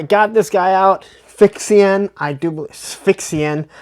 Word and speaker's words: Sphexxian: Sphexxian, I believe is how you say it.